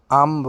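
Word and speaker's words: I'm: রূপা বলতেছে হাই, আম রূপা। দেখো আমি কিন্তু আই এম বলিনি, কি বলছি আম। যখন আই তারপর অ্যাপোস্ট্রফি এবং এম থাকে এটার উচ্চারণ হয়ে যায় আম।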